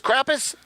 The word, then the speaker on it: Krampus: so his name is Krampus his name is Krampus yes so you spell it with this with the crop there right yeah k-r-a-m-p-u-s like if you got the cramps like you know like